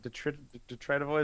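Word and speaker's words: detritivore: they are they are Detroit of Wars DET detrit ofor is how you pronounce that they're only trying to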